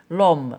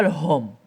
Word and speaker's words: homme: ما كتكتب وما كتقراش on dit l'homme on dit pas le homme on dit l'homme نقول l'homme.